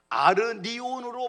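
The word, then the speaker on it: ἀρνίον: 천상에서의 어린 양은 아르니온으로 발음합니다.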